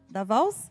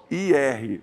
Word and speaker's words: Beauvoir: Da Vals? Não, de Beauvoir, sei lá, eu não sei como pronuncia direito. É Beauvoir, mas é francês, né?